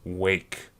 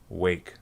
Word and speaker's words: Rwake: albums since 1999 is Rwake. Spelt R-W-A-K-E, pronounced Wake.